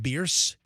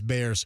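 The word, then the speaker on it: Bearss: So, it's actually pronounced Beers according to the Beers family, but everyone here says Bears.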